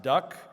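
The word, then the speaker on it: DUKW: built by General Motors, an awkwardly spelled du kw, pronounced duck.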